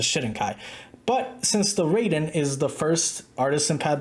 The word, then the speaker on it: Raiden: review of The Artisan Raiden or the way it's meant to be pronounced the ryen now I don't think